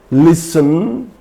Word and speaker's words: listen: So, for example, Christen, it's not Christen, Christen, fasten, listen, hasten, etc. There are so many words. So if a word ends in STEN, there T is silent.